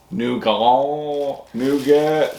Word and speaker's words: nougat: This one is nougat. Somebody said the T is silent. Yeah. Nougat and marshmallow. That's the way we say it here.